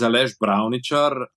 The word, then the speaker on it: Aleš Bravničar: Yeah, my name is Aleš Bravničar. I'm born in Slovenia, and in these parts of the world, we have some funny little things on our letters. Ch, sh, zh.